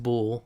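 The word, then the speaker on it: bol: But it's pronounced Boul, like he's pronouncing it in the song, and it's a slang term for a male, specifically in Philadelphia.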